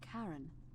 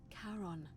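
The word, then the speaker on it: Charon: it's just as you described it only your pronunciation is a little off the name you heard wasn't Karen it was c h a r o n as in Caron the ferryman of the Dead helps The Souls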